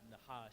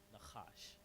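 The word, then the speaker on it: נָחָשׁ: So it's not nahash, it's nachash.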